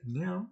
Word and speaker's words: Nairn: That's how you say it. Nairn.